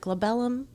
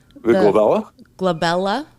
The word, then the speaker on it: glabella: that that fun um is it globellum am i saying it right glabella with a b yeah with a g bella some people call them